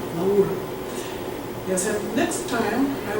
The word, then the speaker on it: Laura: Petrarch and his beloved Laura, probably you pronounce it like Laura, but in Italian, Laura.